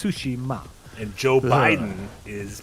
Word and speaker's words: Tsushima: So, so it's not Tsushima, Yeah. it's Sushima.